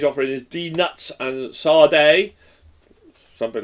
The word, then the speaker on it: saudade: So it's pronounced Saudade. I love languages. I speak quite a few languages, but this is a Portuguese term, and one language I